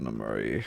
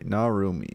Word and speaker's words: Narumi: Oh, I gotta fucking like, how's it going, Namari? I think that's is that how you say your name? Am I saying? I don't know. I hope I'm saying it right. Ugh. Okay. It's Narumi.